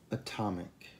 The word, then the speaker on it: atom: Atomic. Atomic. Atom. Atom. Notato la differenza? La T in atomic è unvoiced e la T in atom è la voiced T.